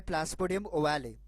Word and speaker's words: Plasmodium ovale: केरला के जवान में, जिसका नाम है प्लास्मोडियम ओवाले, या फिर प्लास्मोडियम ओवेल भी बोल सकते हैं आप। डिफरेंट डिफरेंट प्रोनाउंसिएशन है इस मलेरियल पैरासाइट का।